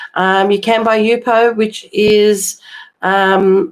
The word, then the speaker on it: Yupo: You can buy Jupo Jupo Yupo. Sorry, I had to think of how to pronounce it. Um you can buy Yupo, which is um like a plastic type paper.